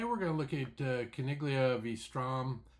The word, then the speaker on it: Caniglia: Uh today we're going to look at Kiglia Vstrom. I think that's probably pronounced Canelia, but I'm going to go with Kiglia.